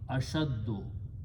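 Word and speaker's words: أشدّ: So putting an alif, it becomes ashdada, ashdado, and these two are pronounced together, so it becomes ashaddo, like aksaro.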